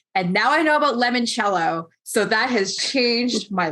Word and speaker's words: limoncello: It's now you can also learn it's pronounced limoncello. Oh, yes. Okay. Lemon. Oh God. Don't let my Canadian tongue read this. I know it's not easy, but it's not lemon, it's limon, like to E.